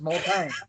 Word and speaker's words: Montagne: pronounce his last name, think of the word when you say dang nabbit. His name is Montagne, like dang, Montagne, right? It's not Montagne or whatever, it's Montagne.